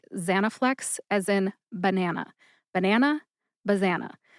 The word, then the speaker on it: Zanaflex: But I personally tend to emphasize that first syllable, za. See if you can hear any emphasis when I say it again. Zanaflex. Zanaflex.